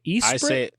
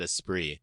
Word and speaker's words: Esprit: Esprit? I said Esprit.